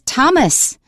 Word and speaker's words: Thomas: When you see th you pronounce it as t. One is Thomas.